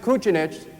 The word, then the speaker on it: Kucinich: When he came over, because he pronounced it Kucinich, they added the H on.